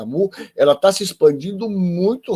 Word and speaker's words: Mu: E, mais recentemente, essa cepa Mu. Parece até piada pronta, né? Mas é Mu, que vem de gato. Mas Mu é na letra, na verdade é Mi, né? Na pronúncia do alfabeto grego.